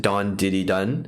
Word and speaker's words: DAWNDIDIDAWN: diddy done but then in english it's actually pronounced don diddy dun so it's like kind of a play on